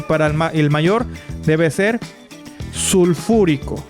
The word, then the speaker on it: sulfúrico: Para el que sigue sulfuroso y para el mayor debe ser sulfúrico. Recuerden que la palabra cuando lleve ico debe de ser esdrújula. Ponemos una tilde en la antepenúltima sílaba.